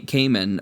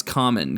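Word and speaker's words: Kaman: Now the really cool thing uh ca cayman or or I think it's common. Common is the way you're supposed to pronounce that.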